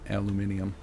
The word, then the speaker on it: aluminium: It's into aluminum or aluminium. I always thought like aluminium was just like internet slang or something that like oh people just say it like that to be silly. Nope. That is that is apparently the way to say it everywhere but here. So to me it sounds silly like adding it sounds like you're adding extra syllables for no reason.